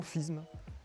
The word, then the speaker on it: Fismes: dans une ville que nous les sudistes appellerions Fismes. Mais ici, les gens des Ardennes me disent qu'il faut dire Fismes. Il ne faut pas prononcer le S, ainsi soit-il.